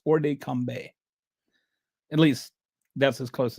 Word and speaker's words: hors de combat: First of all, this hors de combat, it's, the T is not pronounced, by the way. I don't know French, but I've kind of looked up how to pronounce this. It's not hors de combat or something.